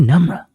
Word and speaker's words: Namra: So, thank you, Namra. Right. When they're like, "Wait, how do I say your name?" You got just call me Numbra.